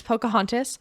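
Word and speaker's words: Poukahangatus: But for this one, I put Pocahontas, which that's how you pronounce that word. It does not look like, it looks unexpected, but it's Pocahontas by Tayi Tibble.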